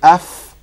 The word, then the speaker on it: أف: The inside of the lower lip and the tips of the two front incisors. So your top two front teeth touch the bottom lip. Touch the bottom lip and you get fa. So say af.